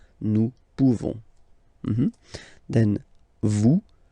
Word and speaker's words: pouvons: Okay, nous pouvons. Nous pouvons. Okay, you don't pronounce the final S. Nous pouvons.